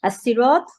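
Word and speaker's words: الصراط: সর্বনাম জামির আর হচ্ছে ইহদিনা মানে আমাদেরকে দেখাও আস সিরাত হচ্ছে পথ এবং এখানে আল এবং সিরাত সিরাত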